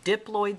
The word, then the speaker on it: diploid: So a diploid cell, you actually pronounce it diploid. I pronounced it diploid to emphasize the fact that di means two.